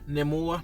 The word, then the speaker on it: Namor: a great job exploring Namor or nemour as he pronounced it like they they really